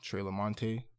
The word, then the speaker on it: Treh LaMonte: My name is not pronounced Treh LaMonte. Yeah. Only way you're getting obliged is if you're Spanish, because I understand. You know what I'm saying? But for the most people, it's Treh LaMonte.